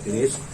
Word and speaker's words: greige: तो जो first form of fabric होता है, जो फैब्रिक का पहला रूप होता है, उसको बोलते हैं ग्रेज fabric, GREIGE, ग्रेज। ग्रे का उच्चारण भी किया जा सकता है और ये ग्रेज फैब्रिक होता है।